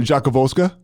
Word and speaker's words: Rzadkowolska: don't have to worry about it so so Jacques volska yeah there you go that was pretty good